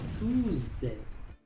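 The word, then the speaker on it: true: Muchos pronuncian esta palabra tu, pero aquí la e es muda después de la u. Así que esta palabra se pronuncia tu, palabra número tres.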